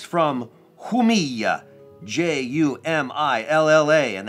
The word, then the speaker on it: Jumilla: J-U-M-I-L-L-A, and that J is almost like a Y. Jumilla, and you do two L's like that, they become like a Y.